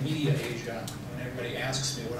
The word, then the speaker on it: MediAsia: and mass communication um I always pronounce this Medi Asia I didn't see the other a in there so instead of saying media Asia when everybody asks me